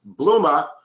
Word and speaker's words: Bluma: Well, if you write with a Boston accent, in which the name Peter is written P-E-T-E-R, then the name pronounced Bluma must be written B-L-O-O-M-E-R.